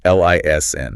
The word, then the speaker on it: listen: But in British English, it is entirely silent. It's L I S N.